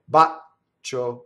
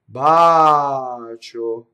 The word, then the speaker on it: bacio: Bacio, wrong. Bacio, long ah.